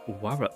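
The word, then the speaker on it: 妾: And I need to pronounce it with a proper Japanese R, which is, it's more like putting the tongue at like the tip of your teeth, like you're making an L sound, like la, wa la.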